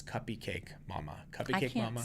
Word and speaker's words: Cuppy Cake Mama: Cake Mama, not Cupcake Mama, Trace. Don't say it wrong. It's Cuppy Cake Mama.